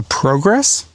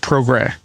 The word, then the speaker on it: Progrès: A lot of people assume it's called the Progrès. It is not an English word, and so this is the French word for progress, but it's pronounced Progrès.